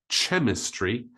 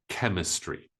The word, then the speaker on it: chemistry: one is chemistry chemistry this word comes from the Greek language so we don't pronounce it ch istry we pronounce it chemistry the next one is